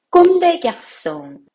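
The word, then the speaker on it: Comme des Garçons: 다른 점이 흥미롭네요 다음은 꼼데 약손 패션 브랜드이죠이 불어 발음으로는 꼼데 약속인데요 뜻은 소년들처럼입니다 일본 디자이너가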